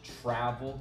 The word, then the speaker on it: travel: in the word travel in American English travel the stress is on travel the first part trap travel trap so for this example